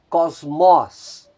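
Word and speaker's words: κόσμος: E por fim nós temos mais 3 palavras cujo acento está recaindo na antepenúltima sílaba. Nós temos a palavra diáconos, diáconos, diácono. Nós temos a palavra mysterion, mistério. E nós temos aí a palavra Kyrios, Kyrios, Senhor.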